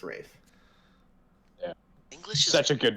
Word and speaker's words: Ralph: you're right there is there is an l but it is pronounced rafe yeah english such a